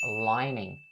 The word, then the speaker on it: lining: this phrase's pronunciation is upon the word lining, lining. Just similar to the way that I instructed you guys on the pronunciation for the word stand. So the N sound in this word lining has to be distinctly pronounced as well.